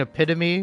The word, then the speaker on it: epitome: It's like, no, it's like pronouncing epitome, which is spelled EPIT OME, I think.